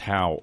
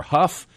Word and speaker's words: Hough: That can be pronounced how or huff.